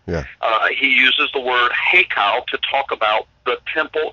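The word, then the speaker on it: היכל: it's actually it's an Aramaic word and it's pronounced heo heo and and h e y k a l heo all right now this word means a palace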